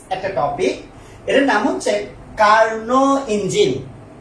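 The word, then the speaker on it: Carnot: এটা ইংরেজিতে পড়লে অনেকের কাছে কার্নট মনে হবে, কার্নট। আমি যদিও অত ভালো ইংরেজি পারি না, বাট এখানে নটের ঠিক উচ্চারণ হবে না, বলে এটা হবে কার্নোস ইঞ্জিন, কার্নোস ইঞ্জিন অথবা কার্নো ইঞ্জিন।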